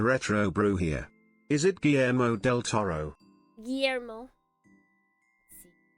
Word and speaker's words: Guillermo del Toro: Is it Guillermo del Toro? Guillermo. Let's see. They didn't roll the R though. I don't know if we can trust that.